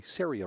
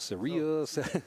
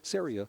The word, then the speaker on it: Ceria: if I back up the name is actually Syria rhymes with area so so that's because we've had a lot of people call it Surya all these different pronunciations but it's Syria rhymes with area and